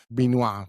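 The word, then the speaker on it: Benoit: How do you pronounce it? Binoa. Bino Blanc. Okay. Yeah. Trying to deceive Binua Blanc in that movie.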